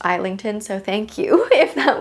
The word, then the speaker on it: Islington: I've been saying James Islington for forever and one of you actually corrected me saying that it's actually pronounced Eington.